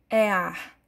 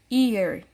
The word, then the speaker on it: ear: palavra orelha em inglês nós não podemos ver é ar certo porque porque a pronúncia das letras em inglês elas são diferentes da maneira que nós pronunciamos as nossas letras em português certo então não iremos falar é ar e sim year certo como eu mostrei